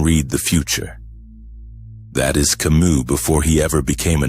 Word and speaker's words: Camus: Albert Camus When you say his name, you almost feel the last S disappear into silence.